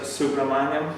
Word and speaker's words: Subramaniam: How do you pronounce his surname? Subramaniam.